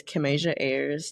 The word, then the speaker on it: Kimasia: Um, so my LinkedIn is Kim Asia. That's Kim and Asia put together like Kim like Kim and then the continent Asia put together a Y RS.